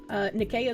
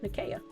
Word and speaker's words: Nicaea: Nicaea is pronounced with a K sound. Oh, okay. Nicaea.